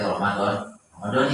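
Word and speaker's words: رمضانِ: Ramadannya jadi Ramadhani yang benar Pak. Soalnya di sini dijelasin itu. Jadi dijelasin bahwasanya kata Ramadan di sini dibacanya kasroh, dibacanya jer atau kasroh.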